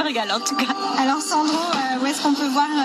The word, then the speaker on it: Sandrot: Il faut préciser que Sandro, ça s'écrit S-A-N-D-R-O-T. O-T.